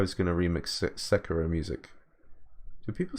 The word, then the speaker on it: Sekiro: So seems like the in vogue thing is to put the emphasis on the first syllable. Sekiro.